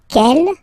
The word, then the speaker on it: quelle: And then the feminine form is written like that, Quellelle, but it's pronounced like the masculine form. Quel at the masculine, quel at the feminine. Okay, so it's basically same pronunciation.